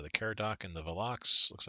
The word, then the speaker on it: Velox: t has learned yes they lost the Destroyer Velux velox sorry you pronounce it um you know what while we're